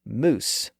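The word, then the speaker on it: mousse: another interesting word to that list the word moose m o u s again it's a French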